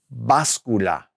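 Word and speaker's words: báscula: the scale right that is called la bas Kula with that accent on the a la bas Kula is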